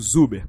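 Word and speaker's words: Czuber: fórmula de zuber né esse c parece que é mudo então eu leio o zuber para os meus alunos e o que que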